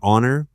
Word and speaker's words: honor: The same happens with honest and honor and air.